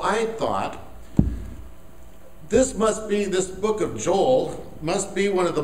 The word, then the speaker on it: Joel: It's actually pronounced Joel in Hebrew.